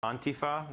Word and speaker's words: antifa: antifa the the emphasis is on the first syllable and it's pronounced more